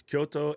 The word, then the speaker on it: Kyoto: And the amount of people that turn both of those cities into 3 syllables hurts my face. It's Kyoto and Tokyo, not Tokyo and Kyoto.